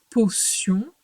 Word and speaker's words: potion: Et donc, dans potion, elle chante ce. Est-ce que tu te souviens pourquoi? Écoute bien le mot potion. Est-ce que tu entends la deuxième syllabe? C'est la syllabe. Oui, c'est la syllabe sion.